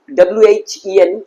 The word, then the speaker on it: when: ডাব্লিউ, ডাব্লিউ দেখো actually WHEN আমরা উচ্চারণ করি when, not when, what do you need, এই হচ্ছে প্রপার প্রোনাউন্সিয়েশন।